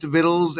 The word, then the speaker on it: victuals: are you are you are you suggesting to me that victuals is pronounced viddles and viddles isn't it oh how dare you